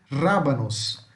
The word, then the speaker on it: rábanos: Rabanete pode ser traduzido como rábanos. Rábanos. Preste atenção no acento, onde tem um acento, onde vamos falar a sílaba mais forte. Rábanos, de rabanete, ok?